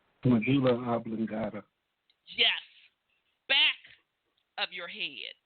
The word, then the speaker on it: medulla oblongata: pronounce it right, your Abdullah Magabla, whatever. I never pronounce it right. Medulla oblongata.